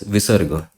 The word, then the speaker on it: visarga: and this two dot, this is known as visarga. Visarg, if you need to know it in English. Visarga. This. How to pronounce visarga?